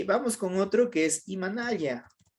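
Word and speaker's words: Imanalla: Vamos con otro que es Imanaya o Imanaya, ¿ya? Yo digo Imanaya, pero si usted dice Imanaya, está muy bien.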